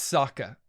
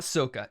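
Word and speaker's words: Sokka: katara and ahsoka's dad i've i've gotta be pronouncing that correctly saka it's saka it's saka it's not soca it's saka uh this is this is their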